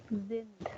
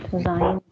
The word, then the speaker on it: sind: Sind. Pronunciation is sind, Rajbir, not sein.